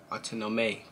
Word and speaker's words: Autonome: Autonome.